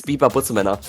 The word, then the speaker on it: Butzemänner: It's Butzemänner.